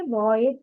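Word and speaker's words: voyage: अगला जो शब्द है वॉयज। क्या स्पेलिंग कैसे प्रोनाउंस करेंगे? वॉएज कहेंगे।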